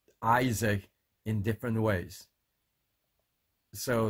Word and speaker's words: Isaac: lot of people pronounce Isaac in different ways so the proper way to pronounce the word Isaac is Isaac Isaac not Isaac not he's